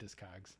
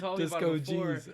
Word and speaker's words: Discogs: is it disc oh geez oh it might be disco geez i always call it discogs yeah i know because you told me about it before disco geez oh my god like i've been saying it wrong the whole time yeah because